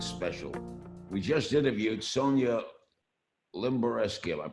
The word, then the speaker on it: Lyubomirsky: we just interviewed Sonia limber s Kayla pronouncing that right Luba Mir ski yep and Larry can do